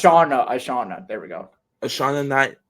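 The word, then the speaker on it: Ishana: I don't want to mispronounce it. Alana? No. Nah, Well, it's Ashana.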